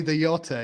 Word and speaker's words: Liotta: Ray the Yotta is basically what it sounds like you're saying.